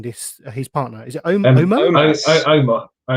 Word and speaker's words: Omos: How am I pronouncing this? His partner, is it Omos? Omos.